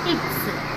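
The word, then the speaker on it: ics: Next ഇക്സ്. എക്സ് അല്ല, എന്താണ്? ഇക്സ്.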